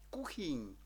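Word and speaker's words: kuchyň: буде гаразд далі бачимо ним'яке так як у слові кухінь так знову ж таки оскільки немає м'якого знаку у чеській мові то якось треба було його пом'якшити над н кладуть гачик або гачок і маємо кухінь ви здогадалися це є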